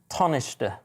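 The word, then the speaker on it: Tánaiste: to pronounce that word i believe it's pronounced tonishter tornister well done that's pretty close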